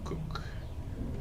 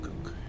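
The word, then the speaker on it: Kuk: People pronounce it cook. K-U-K, cook.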